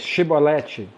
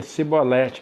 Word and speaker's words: Chibolete: Pois então lhes dizia dizem pois chibolete porém eles diziam se bolete porque não podiam não podiam pronunciar bem então pegava ele